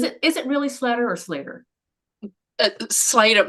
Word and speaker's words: Slatter: My family say Slater because I had a very insistent grandmother who used to walk around telling people it was with the accent on the A, but if you obey the rules of English language with two T's, it's Slatter. But I think we all just go with Slater because we don't want